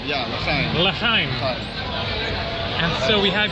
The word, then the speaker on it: l'chaim: So how do you say cheers or something like l'chaim? Yeah, l'chaim.